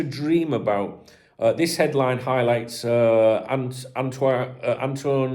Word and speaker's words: Antoine: This headline highlights Antoine, or how he pronounces his name, Antoine Griezmann. I don't think he pronounced the N in that.